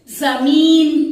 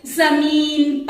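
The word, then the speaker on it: ज़मीन: जमीन पर. ज one dot at the bottom. So it will be pronounced as z. म बड़ी ई की मात्रा मी, जमीन, जमीन पर, पर, जमीन पर गिर पड़ा.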